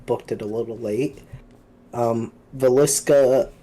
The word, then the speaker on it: Villisca: Villisca Axe Murder House is, I think, how you pronounce it. That's correct.